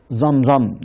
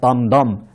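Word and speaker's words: Damdam: düşündü hızlı koşan birisini zamzam diye ismi telaffuz ediliyor zamdan isminde veya damdan sad harfi ile yazıldığı için iki şekilde dokunabiliyor bu adamı görevlendirdi özel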